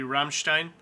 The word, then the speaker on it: Rammstein: It would be Rammstein.